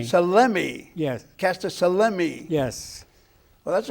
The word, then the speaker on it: Salemi: And you pronounce your last name. Selemi. Selemi.